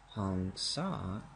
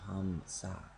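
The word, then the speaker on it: Hamsa: Hong Sa is a Bengali pronunciation of Ham Sa.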